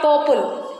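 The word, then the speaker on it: people: पीपल वी आर not saying P ओपल र पोपल हाउ वी are pronounce it पीपल so which sound we आर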